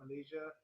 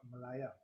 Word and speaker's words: Malaya: High Court of Malaya yes I'm saying it right it's not a typhoon it's not Malaysia it's the icon of Malaya if you are called